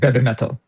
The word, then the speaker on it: BABYMETAL: You got to pronounce it like they do. So it sounds like you're saying heavy metal. Yeah. Oh, yeah. Like be metal.